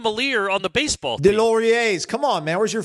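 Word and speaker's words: Deslauriers: Deloriers. Come on, man. Where's your French, buddy? Sorry. So Antoine Deloriers.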